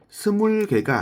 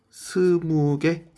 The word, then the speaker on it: 스무: 단, 여기서 주의해야 할 점은 개수를 셀 때에는 스물개가 아니라 스무개라고 이야기를 해 주셔야 합니다.